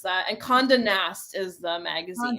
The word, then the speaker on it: Condé Nast: It's Elle Digital, which is like so awesome that you were able to pronounce that. And Condé Nast is the magazine. Condé Nast.